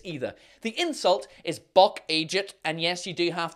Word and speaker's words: eejit: He's a Buck Eejit, so he is. Now, buck is the word chevreuil, and Eejit is just the Northern Irish way of pronouncing the word idiot.